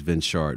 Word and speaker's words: Venshard: If you go to her page or mine, which is Venshard, V-E-N-S-H-A-R-D, trust me, it's only three of us